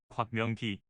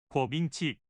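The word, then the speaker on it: 郭明錤: 소위 애플바라면 한 번쯤은 들어보셨을 거라 생각되는 곽명기. 아, 이건 한국 발음이고 우리가 듣던 이름은 궈밍치.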